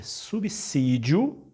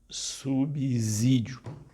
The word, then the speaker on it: subsídio: você for falar essa palavra dizer essa palavra pronunciar essa palavra lembre é subsídio e não subsídio a outra palavra que é um erro primário